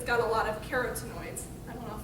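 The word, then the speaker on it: carotenoids: got a lot of carrots noise that's the right way to say that but so a lot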